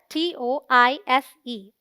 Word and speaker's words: tortoise: TOR is the stressed syllable, rhyming with more. TOISE sounds like tuss, a short U sound. So the right pronunciation is tortoise.